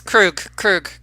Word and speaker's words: Krug: Just think of him as Freddy Krueger. Yeah. Krug, minus the Yeah, just leave me alone.